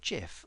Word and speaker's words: GIF: I've read recently that it was meant to be pronounced GIF rather than GIF, which I find really odd, as the G stands for graphics, which is a hard G.